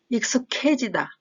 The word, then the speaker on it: 익숙해지다: 긴장하다, 익숙해지다. 8번의 어색하다와 마찬가지로 기역과 히읗이 만나서 키읔 소리가 나기 때문에 익숙해지다, 익숙해지다.